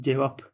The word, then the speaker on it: cevap: tabii Arapça bir kelime Arapça p yok cevabı doğrusu doğrusu derken yazımı o şekilde ama telaffuzda Biz cevap P ile telaffuz edebiliyoruz cevap Ç v yukarıda